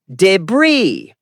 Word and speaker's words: debris: Correct is debris. The s is silent.